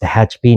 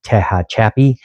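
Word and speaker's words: Tehachapi: It is pronounced Tahachchip, not Tahachi, which I've heard a couple of times before, but um but if you're local, you probably haven't heard that.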